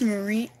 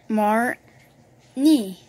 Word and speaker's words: Marnie: So we got this Marine? Are you sure about that? Marin? Marin? It's Marine. No, it's not. Marine. What is it? How do you spell the first syllable? Marnie.